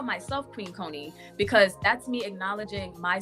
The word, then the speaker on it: Koni: So you know, my name is pronounced Koni. Mhm. However, my sister, I don't know which sister it was, but my older sister was like, you know, she didn't like the pronunciation of my name. And so she started calling me Connie.